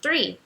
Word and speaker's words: three: Tree, árvore, e three, número 3. São palavras que a gente aprende logo no começo do curso, porque o significado é simples, mas por causa dessa dificuldade da pronúncia do THR, que não existe no português, a gente acaba só aprendendo a pronunciar corretamente depois de ficar mais familiarizado com o idioma.